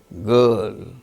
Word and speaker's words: girl: case of certain, garden, girl, GIRL, girl. R is followed by L, a consonant sound. There, R is not pronounced.